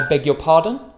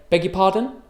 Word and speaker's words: beg your pardon: So we just say beg your pardon. So try to copy my pronunciation. Beg your pardon. U is unstressed and a schwa, so it's y.